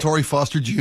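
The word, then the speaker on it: Montorie Foster Jr.: Am I pronouncing that right? Montory Foster Jr. Montto Foster Jr.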